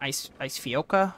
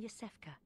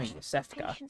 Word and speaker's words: Yosefka: Ice Fioka or something? Are you out on the hunt? I'm Yosefka. Oh, Yosefka.